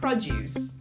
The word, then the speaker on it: produce: which is pronounced as produce the stress is at the front produce customers buy groceries here